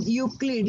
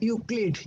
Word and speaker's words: Euclid: Then Euclid, E is silent over there. Okay. उधर ध्यान रखो आप. Euclid, E is silent.